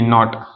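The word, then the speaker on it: knot: हो गए ठीक है इन सभी में हमने देखो के का जो प्र बिल्कुल भी साइलेंट रहा है हमने कहीं भी के का प्रशन नहीं किया नो knowledge night knife नॉट ठीक है अब हमारा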